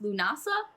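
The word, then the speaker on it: Lughnasadh: It is pronounced Lunasa. The spelling is Lugnasad. Huh. So we're gonna go with Lunasa. Lunasa.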